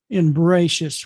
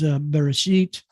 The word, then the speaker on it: Bereshit: In Bereshit, which is the Ashkenazi pronunciation of, in the Sephardic is Bereshit.